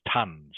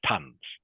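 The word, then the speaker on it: tonnes: Le is is pronounced tons okay the the E is silent okay so it's pronounced tons tons okay lean sorry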